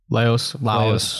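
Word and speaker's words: Laios: their perception of death, because the whole time, Laos, is that how I say his name? Laos.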